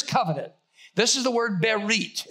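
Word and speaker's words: בְּרִית: what happened here's covenant this is the word berit it's pronounced bear reid it's the word coming you go from right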